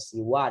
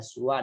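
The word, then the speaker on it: سوى: Cuma pelafalan siwa ini ada beberapa bahasa, ada siwa, ada suwa, ada sawa, bahkan ada siwan, suwan, sawa.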